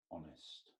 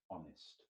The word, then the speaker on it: honest: begins with H and here's the word honest honest for the silent the H is silent honest and the next adjective